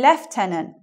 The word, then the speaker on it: lieutenant: bit more difficult so we say leftenant I don't know why it comes out so different but it's really